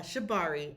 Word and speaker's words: shibari: So, uh Shabari, S H I B A R I is how it's spelled and if you're interested in being tied